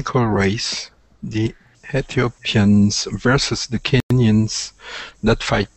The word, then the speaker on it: Ethiopian: The T in this, so remember that when you say the word, instead of saying Ethiopian, because it sounds, when you pronounce it like that, you don't get the TH and then it sounds funny.